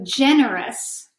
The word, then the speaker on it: generous: a little different so ge and E are oh you asked that gee sounds like Jeff so generous generous is like the